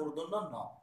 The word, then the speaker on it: মূর্ধন্য ণ: হ্যাঁ, মূর্ধন্য ণ, এটাকে অনেকে মূর্ধন্য বলে, অনেকে মূর্ধন্য ণ বলে, মূর্ধন্য অশুদ্ধ এটাকে বলতে হবে মূর্ধন্য ণ, দন্ত ণ, মূর্ধন্য ণ, আমি উচ্চারণটা বলে দিলাম।